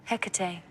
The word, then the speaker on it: Hecate: Um, how do you pronounce it? Hecate.